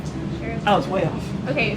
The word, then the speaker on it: Chaartein: I was like, Charlatan? Sheraton? Sheridan? CHAARTEIN. C-H-A-A-R-T-E-I-N. Sheraton.